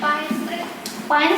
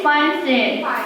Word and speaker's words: Pine Street: Maybe someone who pay attention how to say Pine Street? Is it pin? Pin or Pine Street? It is Pine Street. Yeah, it is the mispronunciation Cindy made.